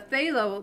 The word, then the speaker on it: phthalo: think it's her channel the fail oh that's how it's pronounced its pH th al o phthalo blue so I hope